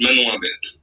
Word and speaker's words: Manon Imbert: Allez sur la chaîne de Manon Imbert pour voir le court-métrage Manon Imbert. Voilà. Comme ça se prononce.